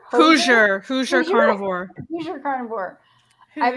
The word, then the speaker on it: Hoosier: Hosier? Hoosier carnivore.